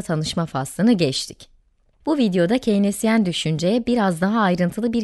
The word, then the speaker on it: Keynesyen: Evet yine Keyinezyen dedim. İlk telaffuz hatamı yapmış oldum böylece. Evet, Keynesyen olacak doğrusu.